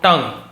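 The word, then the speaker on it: tongue: four drops on your टंग पुट यानी डालो है ना डालने को पुट कहते हैं फोर ड्रॉप्स चार बूंदे ऑन यानी पर योर टंग इसे टंग पढ़ा जाता है जीभ को टंग कहा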